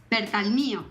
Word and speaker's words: Bertalmio: ¿Cuál es la forma correcta de pronunciar tu apellido? Bertalmio.